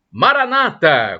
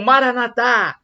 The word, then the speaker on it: Maranata: aramaico Eletro de Jesus Maranata como dizem os protestantes com a tônica na penúltima sílaba ou Maranatha como dizem os católicos com a tônica na última sílaba significado é o mesmo